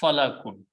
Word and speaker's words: falak: If you put a fatah on lam and fa and pronounce falakun. Falakun means orbit. Okay. But if you pronounce it differently, fulkun. Fulkun means a ship or a boat.